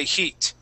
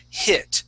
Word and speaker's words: hit: eat eat was a heat okay make sure that we're using I and a short I sound it was a hit try that it was